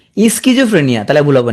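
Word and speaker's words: schizophrenia: পি নাই, হ্যাঁ এখানে একটা ঘটনা আছে, সাইকোলজিতে পি থাকলেও সিজোফ্রেনিয়া কিন্তু পি নাই, তাহলে মনে রাখবা কি স্কিজোফ্রেনিয়া, উচ্চারণ করবা কি স্কিজোফ্রেনিয়া, তাহলে ভুল হবে না আর।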